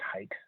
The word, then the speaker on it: Haidt: It's his last name, but it's pronounced Haidt.